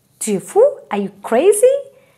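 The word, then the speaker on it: fou: one is Oh F or you this is foo foo is crazy we say dear fool - fool are you crazy right so it is true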